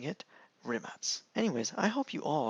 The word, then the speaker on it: Rimac: be pronounced like nimatz with a z at the end instead of rimac with a k at the end or a c at